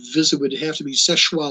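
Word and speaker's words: Seul Choix: would have to be Seshwa Lighthouse in the northern reaches of Lake Michigan. It's spelled, if you look it up, Soelchoix, but it's French, so it's pronounced Seshwa.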